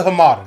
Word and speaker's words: Hamada: Walter Hamada.